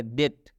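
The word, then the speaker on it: debt: डेप्ट नहीं पढ़ना है, इस बी को छोड़ देना है, क्योंकि इस बी का दूधू भाता है, तो ये हम लोग पढ़ेंगे डेट।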